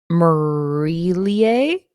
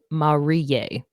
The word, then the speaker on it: Marillier: Okay, so Google is saying Marillier, and then someone in some comments on Goodreads is saying Marillier. Oh my God. You don't pronounce the L's at all.